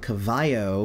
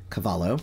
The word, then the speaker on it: Cavallo: So the next one I have is Bob Cavallo, and I pronounced it Bob Cavallo before, but I was told that it's actually Cavallo.